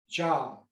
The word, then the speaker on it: Dza: This is an infinite application of the Za, sometimes pronounced Ja in Tibetan.